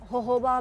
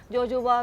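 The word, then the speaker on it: jojoba: होहोबा भी कहते हैं, होहोबा भी कहते हैं। जोजोबा को हम लोग जोजोबा कहते हैं, नॉर्मली जिसको प्रोनाउंस करते हैं होहोबा कहते हैं, जैसे हैलापिनो और जैलापिनो।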